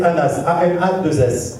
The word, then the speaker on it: Anas: je vous explique que moi mon vrai prénom c'est Anas mais comme j'ai travaillé au Club Med alors les Français ne savaient pas prononcer mon prénom il disait moi je répondais ma